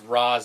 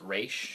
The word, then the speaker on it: Ra's: They pronounce it as Raz in this movie, but in other incarnations they pronounce it as Raish.